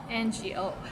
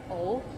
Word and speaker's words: 我: 想我 ngo 我 sometimes we get lazy and we just say 我 like o sound instead of ngo 我 or o.